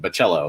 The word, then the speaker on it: Bocello: Chris Bocello, which I looked it up, and apparently that's the correct pronunciation, Bocello. So hopefully I got that right.